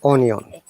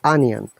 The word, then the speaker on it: onion: So dear viewers, you should be aware, though it is O sound, but except ob, all the O sounds are like A sound. So it is not onion. If you are habituated to pronouncing it onion, that's wrong. It is onion.